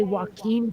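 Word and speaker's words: Joaquin: about pop culture and they cannot say Walken Phoenix properly at all they always say whack Phoenix like seriously whacking Phoenix like you're gonna beat him or something it's crazy can I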